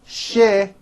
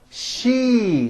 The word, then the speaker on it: she: word seashore and she it's not shi it's she with that high e vowel sound okay also remember the